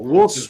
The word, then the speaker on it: Wolstenholme: which one's silent? The L is silent. The L is silent. Wolstenholme. Oh, Wolstenholme. Wilson.